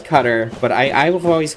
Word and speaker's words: Qatar: Nope, you're from Qatar. How do you say it? So a lot of people out here. So my dad says Qatar. He says Qatar, but I've always pronounced it Qatar.